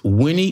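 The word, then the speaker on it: WENEE: It's Winnie. It's pronounced Winnie, but it's spelled W-E-N-E-E.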